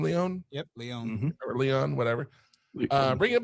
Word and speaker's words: Leone: Directed again by Damien Leone. Is that how you say his name, Leone? Yep, Leone.